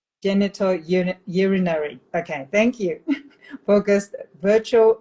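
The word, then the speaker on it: genitourinary: Genito urinary.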